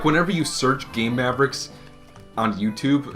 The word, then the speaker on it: Game Maverick: how we start our game maverick episodes here on zebra stop pronouncing it that way what way stop pronouncing it gay mavericks it's game maverick that's what i said